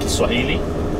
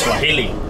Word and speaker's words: Kiswahili: First of all, you pronounce it correct because it's called Kiswahili. While everyone, including Google, says Swahili, but it's called Kiswahili.